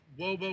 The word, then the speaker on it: Wobo: great Robo escape and no we're not mispronouncing that it's Robo with a double you know it's supposed to sound like cute for robot it might actually in